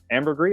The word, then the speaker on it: ambergris: ambergris element which is a animated series episode ambergris element that's how you pronounce it it's the one where kirk and